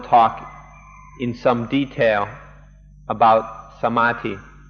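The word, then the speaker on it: samādhi: And so now we'll talk in some detail about samati. Thai pronunciation is samati and often you'll hear foreigners pronounce it samadei.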